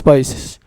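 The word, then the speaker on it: παῖς: Aquí usa otra palabra que es país, como se escribe país, pero con ese acento, país.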